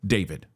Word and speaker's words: D4vd: David. All right. He has a four in his name as as an artist. And if you just read it out phonetically, it's defor.